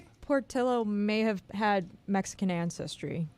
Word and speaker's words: Portillo: son of Greek and Mexican immigrants so poros Portillo it is Portillo I'm watching a commercial to